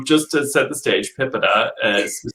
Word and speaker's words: PIPEDA: privacy laws that said there is no universal agreement on how to say it um there are people who say pipa and pipetta um and various other